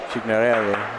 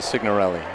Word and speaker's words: Signorelli: Anyway, he pronounces it Signorelli, right?